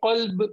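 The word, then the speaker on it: قلب: But if we don't make this qaf heavy, we will somewhat pronounce this kaf. So we will say qalb means heart. We will say, we will make it kalb, which means dog.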